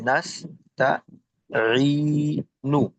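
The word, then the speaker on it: نستعين: যদি ওয়াকফ করি তাহলে হচ্ছে মদের হরফের বামে যদি আমরা ওয়াকফ করি তাহলে তিন আলিফ টান দেওয়া হবে, অর্থাৎ মদে আরজি হবে। তাহলে এবং ওটা হচ্ছে জজম হয়ে যাবে নুন ইয়া, তাহলে আমাদের উচ্চারণ হবে নাস্তাইন। জি।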